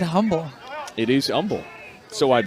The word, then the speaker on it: Humble: From Humble, Texas originally. Is that how you say it? It is how you say it. You don't say the H. I've always said humble.